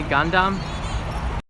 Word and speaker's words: Gundam: dumb thank you Peter good dumb was that pronouncing a Gundam Gundam so Peter Peter set me straight Thank